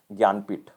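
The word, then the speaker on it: Jnanpith: It is basically pronounced as Gyanpith.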